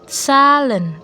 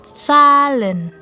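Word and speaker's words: Zahlen: Z itu kalau masuk ke dalam kata dia S. Contohnya salen. Salen. Salen artinya angka. Angka.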